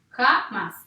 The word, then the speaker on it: jamás: Jamás, 2 sílabas. ¿Dónde está la fuerza de esta palabra? Yo digo jamás, no, digo jamás. Entonces la fuerza está en la última.